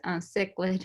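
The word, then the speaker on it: cichlid: here CID fish um this is not um pronounced chlid it's CID fish um but we have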